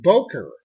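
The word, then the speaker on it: Böker: say biker for a we'd say baker it's an oh we say boker but the umlaut over the o tells me that back in the fatherland it's probably pronounced but we don't do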